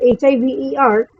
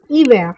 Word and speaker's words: hiver: For instance, HIVER, which is this word, which means winter, is pronounced as hiver, not hiver.